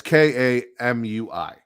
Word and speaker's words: Kamui: So the lineup is looking like Ninja Kami. I don't know how to say it. It's Kamui.